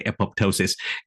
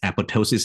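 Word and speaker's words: apoptosis: scientist in everyone most of them will say eposis and um which we we always take it for granted but the correct pronunciation is eposis and the p is a silent so just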